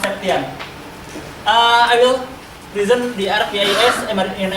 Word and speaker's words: Septian: Some of you maybe pronounce it Septian, just like but it's pronounced Septian.